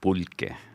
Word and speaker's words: pulque: And it's funny because I got to go back just briefly, because you mentioned a word of a drink that's called pulque. Okay, that's how you pronounce it.